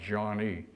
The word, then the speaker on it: Joigny: Jean fr spelled j o i gny y pronounced John E and they they broke the news to us